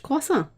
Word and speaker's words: croissant: Well, that's how you say it in French, croissant.